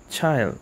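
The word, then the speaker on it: Childe: call me child child oh that's how you pronounce it child okay child what so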